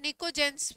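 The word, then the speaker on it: pnictogens: या इसी को बोलते हैं निकोजेन, पी साइलेंट होता है, निकोजेंस भी बोलते हैं, निकोजेंस।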